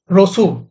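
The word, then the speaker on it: Rousseau: হইছিল আপনার জেন জেকুইস রুসুই রুসু রুসু না রুসু ঠিক আছে প্রোনাউন্সিয়েশন না যাও একদম প্রভাত ঠিক আছে নাও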